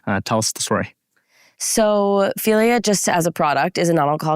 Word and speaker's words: Figlia: And for those of you in the crowd, Figlia, not Figlia, as I might have pronounced it.